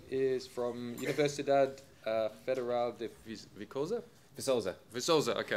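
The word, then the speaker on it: Viçosa: Philip is from Universidad Federal de Vicosa, okay, I was close. Soft C.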